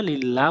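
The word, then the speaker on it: لله: হামজালাম জবর আল, হামিম জবর হাম, দাল পেশ দু, আলহামদু, লাম লাম জেরে লিল, লাম খারা জবর ল বলা যাবে না, লিল্লাহ বলতে হবে, হাজরিহি, লিল্লাহি, আলহামদুলিল্লাহি।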